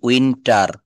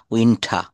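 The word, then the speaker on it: winter: late আউটম late আউটম উইন্টার আমরা উইন্টার বলি না উইন্ঠা উইন্ঠ উইন্ঠ স্প্রিং এটা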